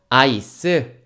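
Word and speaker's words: ice: 얼음 들어간 커피 우리 카페 가서 뭐라고 시키죠 아이스 아메리카노 주세요라고 합니다 그죠 그리고 차가운 거 요렇게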